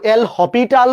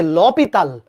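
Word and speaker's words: L'Hôpital: কেউ কেউ এল হসপিটাল বলে। আর আসল উচ্চারণ হচ্ছে ল পিতাল। ল পিতাল।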